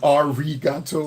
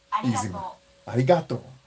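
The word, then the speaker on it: ありがとう: there is in english pronouncing it like an english r however would be our regatto it should be a quick striking motion i do like the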